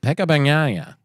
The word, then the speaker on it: Pecco Bagnaia: That should technically be 3 syllables, right? Four. Pecco Bagnaia. 5 syllables. And the Australian accent and natural inclination to say a word and speed of it turns out to be Pecca Bagnaia.